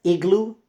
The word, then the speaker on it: iglú: ¿Qué es iglú en español? ¿Qué es? ¿Qué es? It's the same word. Iglú, with a slight tilde accent on the U.